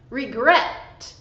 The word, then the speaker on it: regret: With this verb, regret, the stress is on the second syllable.